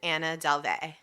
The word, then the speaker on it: Anna Delvey: Her name is Anna Delvey. Oh my God. I'm pronouncing it like Lana Del Rey or Marina Del Rey. Like a la the Californians.